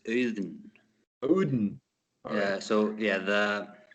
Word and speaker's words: Auðn: yeah it's uh it's eden yeah so yeah the when you put the a and u together in icelandic it becomes like a new uh uh and